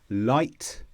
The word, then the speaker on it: light: So for example, light, might, right. And the secret here is we don't pronounce the G sound or the G sound.